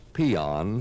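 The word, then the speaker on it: paean: dictionary you will find a word pronounced peon spelled p aan it means to praise however an ice cream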